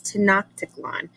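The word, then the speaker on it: Tenochtitlan: was a city called to knock tickle on and you're looking at that word up there and you're thinking what the heck how do you say it's to not tickle on and it was it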